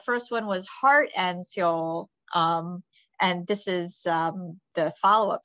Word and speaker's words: Seoul: Seoul as in South Korea, although am I pronouncing it correctly? Seoul.